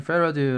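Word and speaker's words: farad: 플러 d 의 약자입니다 자 읽을 때는 패러디 라고 읽어 주시면 되고 쓰실 때는 애플비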